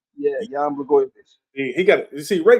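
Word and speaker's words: Jan Błachowicz: Jan Blachowicz. Jan Blachowicz.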